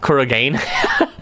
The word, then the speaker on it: Kurogane: Were you like Kurogane? Come on, it's Japanese. Of course the E is pronounced.